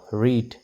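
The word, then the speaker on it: read: মিট এটো সাইলেন্ট হৈ আছে ৰ ই দ ৰিড ৰ ই দ ৰিড এটো সাইলেন্ট হৈ আছে ঠিক তেনেদৰে ভাৱেল আইৰ সাউণ্ডটো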